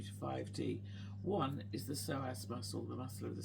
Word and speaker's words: psoas: Balances the soass muscle.